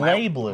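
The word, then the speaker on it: BlazBlue: It's actually pronounced Blay Blue.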